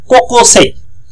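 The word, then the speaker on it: 高校生: কোকোসেই কোকোসেই, দেখেন এখানে একটা গ্রামার আছে, কো তাই না, কো তাই না, কো দেখা যাচ্ছে, ইয়ে দেখা যায়, কোকোসেই।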